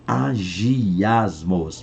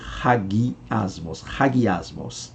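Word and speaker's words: ἁγιασμός: Santificação do grego raguismos a quem pronuncia agirmos lá mas a pronúncia é ragui asmos tá então tá aqui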